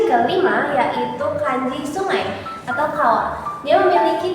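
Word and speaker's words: 川: Untuk kunyominya apabila dia berdiri sendiri seperti ini, maka dia dibacanya kawa atau gawa.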